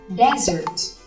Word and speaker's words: desert: Còn sa mạc đọc là desert.